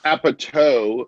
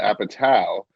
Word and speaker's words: Apatow: Because it's been mispronounced. Well, if someone says Apatow instead of Apatow, right, I think it's fancier.